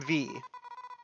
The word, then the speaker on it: Vi: age it's about skill I'm V that is how the name is pronounced I thought it was VI for the longest time it is officially pronounced V I cannot promise I